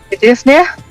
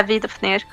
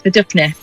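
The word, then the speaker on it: Viðofnir: Yeah, Vidopnir. And I've almost said it right! The F becomes a P because it's before an N, because that's the logic. Oh, so it's Vidupnir.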